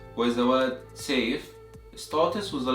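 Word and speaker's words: سيف: You see this word, which is pronounced as safe, safe, which means sword in Arabic, and the second word that is pronounced as soif, soif, which means summer in Arabic.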